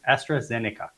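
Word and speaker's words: AstraZeneca: a pharmaceutical company like estra Zen I can't pronounce half of these Astra zenica there you go time to and okay okay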